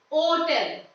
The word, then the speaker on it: hotel: For example, an hotel. So here, actually the first letter is H. Hotel, right? But we are giving stress on the second syllable of the word.